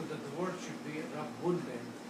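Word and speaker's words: رَبٌّ: So when you pronounce, this is rab bun, two bars. you can write down this as Rabbun with a shadda or tashdeed.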